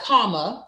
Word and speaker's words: Kamala: It is like comma. Like a comma. Like the comma, punctuation, comma.